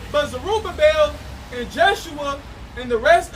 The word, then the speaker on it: Zerubbabel: I was going to say just a quick point, because Zerubbabel is Zerai Babal, right? That's how you say it, Zerubbabel in the Hebrew.